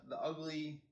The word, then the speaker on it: UGLI: But so you have the Ugly oven here, and it's UGLI, and it's pronounced ugly.